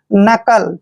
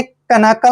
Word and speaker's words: knuckle: नकल, क्या पढ़ेंगे इसको, नकल। आपने कनकल नहीं पढ़ना है, नकल पढ़ना है।